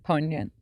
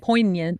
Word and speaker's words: poignant: Poignant. I can't even say it right. Poignant. There's a G in there.